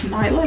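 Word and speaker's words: Nila: If you've never been here before, my name is Nyla. It's spelled Nancy I-L-A, pretty much what you see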